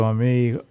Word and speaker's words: Amy: Ami, Oh, it is. okay. Oh. It is. Because when you said you were from Louisiana, I was like, I wonder if it's like the French pronunciation.